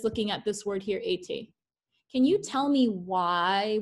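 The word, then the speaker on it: étaient: ENT we should not pronounce. You guys agree with me? Yay. So it leaves us with été.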